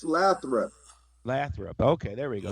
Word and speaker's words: Lathrop: yeah, it's Lathrop.